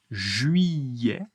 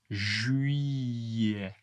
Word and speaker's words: juillet: Juillet. Juillet. Attention, le T n'est pas prononcé et 2 L se prononce comme un Y. Juillet.